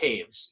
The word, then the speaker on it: Toews: You got like Teravainen, Shea, and Taves, which is a North American thing, but still, I mean, it's Toews and it's pronounced Taves.